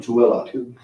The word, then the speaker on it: Tooele: So Clearfield, Orem, Kaysville, Salt Lake City, Payson, and I know I'm going to say it wrong, Tooele.